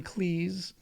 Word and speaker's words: Cleese: John Cleese, you better pronounce it to rhyme with sneeze or he'll reprimand you,